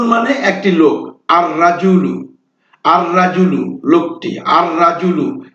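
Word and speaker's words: الرجل: একটি লোক আর রাজুলু আর রাজুলু লোকটি আর রাজুলু এখানে কিন্তু লাম হরফটি উচ্চারিত হল না দিকুন মানে একটি মোরগুন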